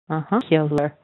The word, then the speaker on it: secular: You stressed on se and 2 weak syllables, and it has a little ya in it. It's going to be se. Secular. Okay, so it's secular.